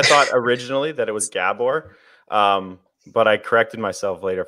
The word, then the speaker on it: Gabor: to say your name properly I think it's pronounced Gabor technically I tell English people in these Gabor